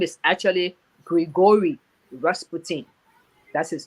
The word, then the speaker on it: Grigory Rasputin: caused all the confusion his name is actually grigory rasputin that's his name so here's my final word